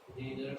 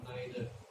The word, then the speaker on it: neither: Neither or neither. Neither or neither. Yeah, both are correct, it's up to you. The American pronunciation, though, is almost always neither.